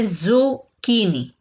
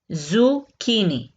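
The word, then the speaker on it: zucchini: Next है ज़ुकीनी। ज़ुकीनी, ज़ुकीनी कहा जाता है काली तोरी को, ठीक है, ज़ुकीनी। सीएच जो है ये तो चे की आवाज निकालता है, लेकिन यहाँ पे इसने प्रोनाउंसिएशन जो देनी है वो करनी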